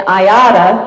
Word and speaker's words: IATA: And IATA, that's the pronunciation of the acronym, is the most common.